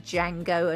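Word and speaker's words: Django: queried the name and the character claimed that the D is silent you have a big problem with that as you can hear the difference between Jango and Jango yes I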